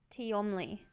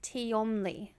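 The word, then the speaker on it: Tehmonlee: Tiomli. That's a mouthful. T-E-M-O-L. So it's pronounced Tiomli.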